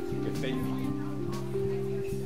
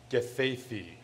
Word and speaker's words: Gathaithi: Gathaithi.